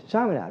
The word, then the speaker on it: Chaminade: Oh, yeah, Chaminade, right there.